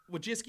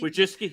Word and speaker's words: Wojcicki: I can never pronounce Wojcicki. Wojcicki? Wojcicki, yeah.